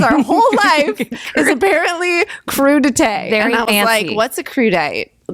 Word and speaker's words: crudité: Nor did I know the word crudité. Crudité. Or crudite, as I'm pretty sure I pronounced it the first time.